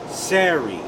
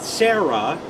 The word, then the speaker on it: Sari: she has a daughter her daughter's name is sari not sarah but sari it's probably some sort of hebrew name that's how you say it in english or something don't know